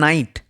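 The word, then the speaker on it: knight: Next রয়েছে নাইট। নাইট। নাইট কথার অর্থ হচ্ছে যোদ্ধা বা নাইট। যারা ঘোড়ায় চড়ে যুদ্ধ করতেন এমন যোদ্ধাদেরকে নাইট বলা হতো। তাহলে নাইট কথার ক্ষেত্রে কিন্তু কে সাইলেন্ট।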